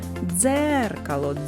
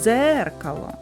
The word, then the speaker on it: дзеркало: визначимо куди падає наголос покличемо дзеркало дзеркало наголос падає на звук е А зараз Спробуй